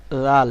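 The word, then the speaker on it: ذ: দাল রাল আলতো করে জাল এই অক্ষরটিকে আপনাকে আলতো করে উচ্চারণ করতে হবে জাল র যা এটি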